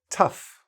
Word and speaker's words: tough: Okay, let's start with uff, tough, rough, enough. So even though it's OUGH, there's no OUGH. Okay, there's no such sound as OUGH in English.